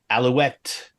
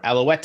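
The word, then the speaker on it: Alouette: Daryl Dixon, Allouette, or Allouette, as we say in the song. I can't say it without pronouncing the E, which you're not supposed to do.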